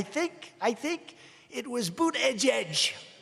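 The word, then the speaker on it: Buttigieg: I think it was boot Edge Edge boot Edge Edge they said think of it as Boot and then Edge Edge cuz nobody can pronounce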